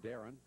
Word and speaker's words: Darian: We used to both call him Darian. We could have both been wrong, but in this way, we got a 50-50 chance. Understand his classmates call him Darren, but it's spelled Darian, so we're giving him benefit of the doubt.